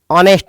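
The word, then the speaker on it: honest: देखो सेंटेंस में यह होनेस्ट है और होनेस्ट मैन के में ओ एच आपका साइलेंट है। तो आप बोलेंगे इसको ऑनेस्ट मैन।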